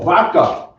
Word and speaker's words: vaca: Oh, it's with a short V, like V. Oh, Vaca. Vaca. It's No, not but it's pronounced as Baka in some. yeah, some people say.